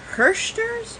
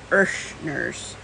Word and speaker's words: Herrschners: from now is it hearsters or is it irshners because personally I think the H is silent but correct me if I'm wrong so it's my first